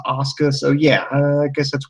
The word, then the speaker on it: Asuka: it looks like it's spelled Asuka but it's pronounced Asuka so yeah I guess that's why threw me